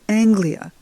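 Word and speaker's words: אנגליה: with an Alf and this is not England but Anglia that's how they say it in Hebrew Anglia and that's the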